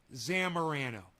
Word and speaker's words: Zamorano: It's not that hard to say. Zamorano. Anybody could say it. And if he wanted to show her some respect, he'd say it properly.